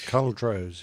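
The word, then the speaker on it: Culdrose: Royal Naval Air Station cauldros is that the way you pronounce that Nick uh yep col Rose yes okay and close by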